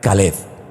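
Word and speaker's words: כלב: Así que tenemos a todo corazón, tenemos a Kelev en nuestra finca, pero aparte de eso, esa palabra también se puede pronunciar de otra forma y se puede pronunciar Caleb.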